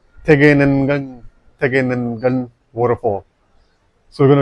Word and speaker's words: Tegenungan: It's called Tegenungan waterfall.